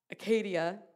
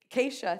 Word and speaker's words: Acacia: Then Joshua secretly sent out 2 spies from the Israelite camp, and at Acadia, I may have said that wrong, but Acacia, thank you.